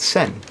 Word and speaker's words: sen: 14 X points and 28 sen. Sen is money. Sen is money. It rhymes with yen.